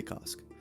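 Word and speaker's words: Kossk: worship of cost and I'm pretty sure I'm pronouncing that right it's k o ssk k so I'm going to say cost Gator men across Western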